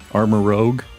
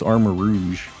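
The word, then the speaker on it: Armarouge: armor armor Rouge armor Rogue it's not Rogue it's armor Rouge um I like Sarah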